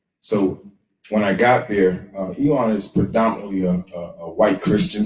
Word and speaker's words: Elon: Is it Elon or Elon?